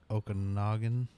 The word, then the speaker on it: Okanagan: Now I might be pronouncing it wrong, so you might Ogopogo. Yeah, I might butcher this. Lake Okanagan.